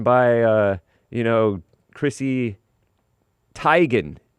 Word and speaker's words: Teigen: And uh or uh oh, what's her name going by uh you know, Chrissy Teigen. It's not It's Teigen, not Teegan.